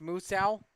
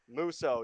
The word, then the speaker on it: Musso: It's pronounced Musso? Musso, yep.